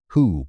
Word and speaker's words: Hu: Hu, pronounced like a breath, is the divine utterance, the first sound through which the creator god Ptah spoke the cosmos into existence.